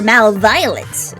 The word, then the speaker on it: MalViolence: After all, I'm the great caution emperor of malevolence, or MalViolence. Yeah, that's how it's pronounced here.